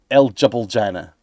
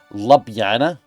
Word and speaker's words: Ljubljana: Ljubljana. Okay, fine. I mean, you want something to be pronounced Ljubljana, spell it Ljubljana. Don't call it El Jubiljana.